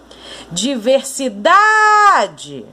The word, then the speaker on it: diversidade: pronunciada com mais força, diversidade. Conseguiu notar que a sílaba mais forte é o da? Diversidade.